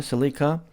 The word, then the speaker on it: Celica: the WRC oriented GT4 Celica, by the way, we pronounce it Celica here in Canada. You guys in the US say Celica.